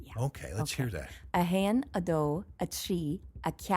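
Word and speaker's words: a haon: A hain, a do, a tree. And that first word almost has two syllables. Han. Hayin, like H-A-Y-E-N? Yeah, that'd be a good English equivalent.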